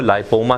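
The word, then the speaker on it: lipoma: جی آپ اس کا تلفظ غلط کر رہے ہیں. اس کو لائپوما کہتے ہیں.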